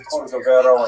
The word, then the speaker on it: Cordovero: his matzeva, his gravestone, it's Cordoero. It's a Portuguese spelling, but it's kind of a strange thing to pronounce in Hebrew, so it was sort of mangled into Cordovero, and that has become the standard, even though it's probably not correct.